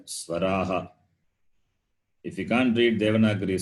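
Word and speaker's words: स्वराः: S-V-A-R-A-H. Swaraha. You have to read like that. Swaraha. The H is Swaraha. Ha sound.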